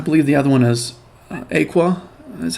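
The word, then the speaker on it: Aequa: linistia um I believe the other one has Aqua that's how you say her name she was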